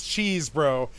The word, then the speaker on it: Chesebro: His name is literally Cheese It Bro.